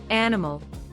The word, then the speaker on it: animal: or intonation for example animal stress goes on the first syllable camera schah is found